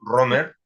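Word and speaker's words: Römer: se llama Tomás romer así escrito pronunciado a los español a los Castellano romer la o con diéresis con los dos puntitos tomas romer que se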